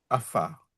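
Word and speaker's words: עפר: Et la première syllabe, c'est la A. Et Enfin, puis après, tu passes à la deuxième syllabe. la deuxième consonne, c'est un feu. Voilà. Et là, il faut faire la liaison avec Fa, le fa. afar.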